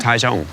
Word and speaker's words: Taichung: Taichung.